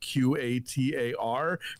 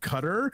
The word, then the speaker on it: Qatar: country that is spelled q-a-t-a-r pronounces it cutter and not qatar which is what they say in this movie wow i would have